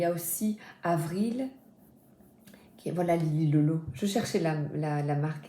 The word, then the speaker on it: Lily Lolo: Je crois c'est Olili, comment est-ce qu'on prononce ? Oili. Oh Lili, c'est pas au Lili, c'est Lili Lolo.